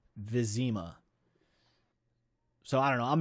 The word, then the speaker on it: Vizima: Also, if it helps, the game pronounces the city of Vizma, Vizima.